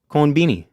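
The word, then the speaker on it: コンビニ: what they do is they pronounce it in Japanese and then they a lot of times shorten it to something kind of cuter so they saw American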